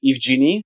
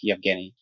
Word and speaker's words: Yi: go ahead Yi yes some people try to say it like e but it's it's transliteration of my my real name so it's more like Yi yes so I wanted